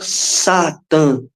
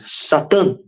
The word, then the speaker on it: Satã: Então, essa vocalização com kametz gadol, que é um aleph, e tem um kametz gadol embaixo, indica uma tonicidade forte na última sílaba. Então, não é Satã, é Satã, Satã, Satã, como se escrevesse minúsculo, aí fosse aumentando em maiúsculo para mostrar que aumenta o tom, né?